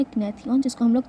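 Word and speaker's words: gnathion: इसके बाद हमारे पास आता है ग्नेथन। ठीक है? नेथ्यन या ग्नेथन बोल सकते हैं। जी मोस्टली साइलेंट होता है।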